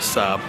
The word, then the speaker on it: Sable: Resident French expert Rob has just warned me that it is led Sab, not Sable.